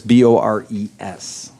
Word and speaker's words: Boris: That's Bores, like boars, not pronounced that way.